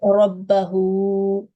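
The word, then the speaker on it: رَبَّهُ: Okay, so it is rabbahu. Yes. Rabbahu. Rabbahu. Rabbahu. Yes, and on this noon, how should we pronounce this noon with a shadda?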